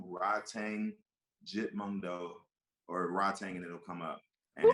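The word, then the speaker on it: Rodtang: Tang Jit Mundo or Rod Tang and it'll come up. Who can spell that? Rod Tang Jit Mungo. Like, R-O-D. yo. Yeah, Rod as in like Rodney, Tang as in Pootie Tang, correct?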